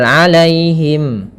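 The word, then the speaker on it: عليهم: Kemudian pada lafal alaihim. Alaihim. Di sini ada ya sukun yang didahului dengan fathah. Ini kita namakan dengan bacaan lin. Maka lembut dalam pelafalannya.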